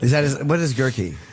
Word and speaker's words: Guerke: the last name of Girkie? Gerie. Right. Right. Is that what is girky? He said it just rhymes with turkey. Yeah. He said it's the gerky family.